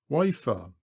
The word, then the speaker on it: Wayford: 2 miles up we come to Wayford Bridge, pronounced locally Wafer.